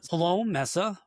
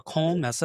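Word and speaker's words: Koelnmesse: So we are Cologne Messa or Cole Messa if I try to pronounce it a little bit uh with a little bit better accent.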